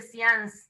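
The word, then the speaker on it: séance: en Ibrit se dice science, no sé si oyeron. El science viene de una palabra en francés que se escribe seance, S-E-A-N-C-E, que es una onda.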